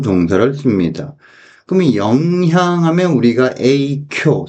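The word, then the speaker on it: 影響: 그러면 영향하면 우리가 에이쿄 세게 발음해 줘야 돼요.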